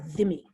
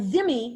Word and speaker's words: dhimmi: Armenians as Christians are dhimmi. And dhimmi, the DH is pronounced like a TH.